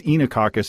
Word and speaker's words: Oenococcus: And you say it's Enococcus. It's spelled Oenococcus.